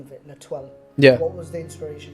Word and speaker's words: Letoile: So you have so if you want to try and pronounce it, Letoile and Dessus.